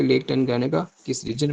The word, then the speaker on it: Tanganyika: और यहाँ पे एक लेक है, लेक टनगानिका, ठीक है, लेक टनगानिका, स्पेलिंग इसके आप नोट कर लें, TANGANYIKA, टनगानिका।